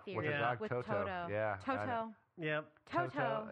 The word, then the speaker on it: Toto: With her dog With Toto.